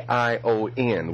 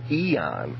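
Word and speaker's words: aion: Number 165 is A I O N, which we pronounce ion in the Greek, but which which we transliterate as Eon, as in an epic of time.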